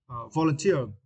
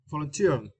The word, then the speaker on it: volunteer: the meaning for you the word uh volunteer volunteer and for this question you need to stress the T syllable right te volunteer volunteer volunteer is meant to offer